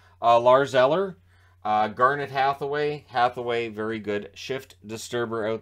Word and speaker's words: Hathaway: lars eller garnett hathaway hathaway very good shift disturber out there i make sure that i pronounce the f in there uh connor sherry sherry's